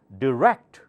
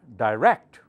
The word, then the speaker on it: direct: do you say that it's got two pronunciations direct or direct okay rekt louder so do not say direct that sounds like Dai loader people get confused